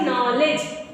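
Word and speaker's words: knowledge: आगे देखो, नॉलेज है ना बेटा, क्या साइलेंट है?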